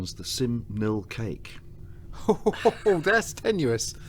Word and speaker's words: Sim: So Sim, the M is not pronounced, but it's spelled S-I-M, and they love the fact that Sim is actually yes in Portuguese.